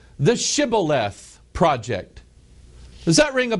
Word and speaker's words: Shibboleth: And if he said, nay, which means no, then said they unto him, say now, Shibboleth. And he said, Sibboleth, for he could not frame to pronounce it right.